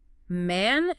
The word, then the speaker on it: man: Man ends with an N. To produce an English n, your lips must stay open and the tip of your tongue presses against the alveolar ridge. That's the roof of your mouth just behind your front teeth.